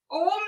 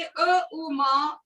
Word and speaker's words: ओम: और ये उच्चारण ओम से नहीं होता, ये अ उ म ओम से शुरू होता है।